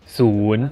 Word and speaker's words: ศูนย์: Thai you say ศูนย์ศูนย์ ศูนย์ Pronunciation is same as คุณ from ขอบ ศูนย์ except the sound is longer this time.